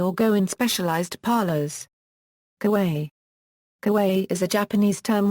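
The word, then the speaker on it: かわいい: Kawaii is pronounced kawaii.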